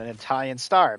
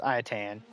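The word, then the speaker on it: Ayatan: Oh, someone actually got me an Italian star. Baby iotan. Love it. I know I said it wrong. It's iotayotan. I called it Italian star, but don't worry.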